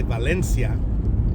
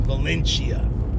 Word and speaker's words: Valencia: And those fools back in them days would call it Valencia. Kind of like, I don't know, Italianize it. But it's Valencia. That's where Magic Mountain is, Valencia. And it's kind of, that's the most commonly accepted pronunciation.